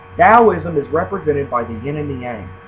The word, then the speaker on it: Daoism: t is a du sound dosm it's not taism it's dosm Daoism is represented by the yin and the Yang